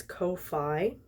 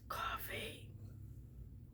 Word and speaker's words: Ko-fi: So, my kid pronounces this Ko-fi. And even I'm like, dude, it's coffee.